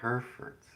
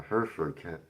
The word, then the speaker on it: Hereford: West Country accent pronounces the R, but you don't.